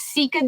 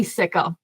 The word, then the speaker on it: sika: do you say it technically it's seika deer but we say sicka so okay and the